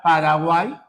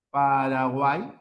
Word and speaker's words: Paraguay: Y en este caso la y cuando ven la parte final, recuerda, se cuenta como una vocal.